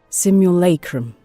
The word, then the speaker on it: simulacrum: I need to know how this word is pronounced, otherwise this is gonna be a long one. Simulacrum. There's no way I can pull that one off. Simulacrum. I actually did it. Holy shit, I'm so good. Simulacrum. I was pronouncing it so wrong.